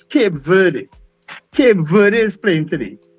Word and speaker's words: Cape Verde: You had said you had tried to pronounce a a team earlier on and I had said quote Devoir. Apparently it's Cape Verde.